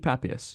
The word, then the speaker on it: Papias: Next is Papias. I thought his name was Papias, but it's actually Papias, so that's cool.